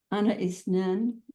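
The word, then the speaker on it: Anaïs Nin: How Anna Isnin, and I thank Janine for my correction on that pronunciation.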